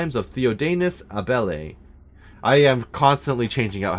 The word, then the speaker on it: Abele: Alright, Duke Luca Abele. Finally, please pronounce his full name. I don't know Duke Luca Abel.